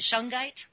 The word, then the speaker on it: Shungite: And then Shungite. And is that how you say it, Shungite?